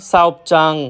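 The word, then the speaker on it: 사업장: ঝিকচাং, ঝাগপচাং, সাওপচাং মানে কর্মস্থল। হ্যাঁ ভাই, আপনারা ঠিকই শুনতেছেন, আমি লাস্টে চাং উচ্চারিত করতেছি। আসলে সবগুলার লাস্টেই চাং উচ্চারিত হবে। কেউ যদি উচ্চারণ করে জাং, সেটা সম্পূর্ণরূপে ভুল।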